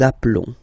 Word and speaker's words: appelons: Okay, final S doesn't exist. Nous appelons.